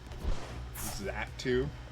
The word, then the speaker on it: Xatu: Just a hard pronunciation of the A, I guess. Xatu.